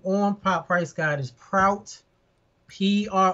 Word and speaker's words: Prout: say my name or my price guard is proud PR o UT of pops in the pop